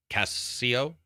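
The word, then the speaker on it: CaseOh: Content creator, Casio, I guess. Best sports racing. I think it's pronounced like queso, like cheese in Spanish.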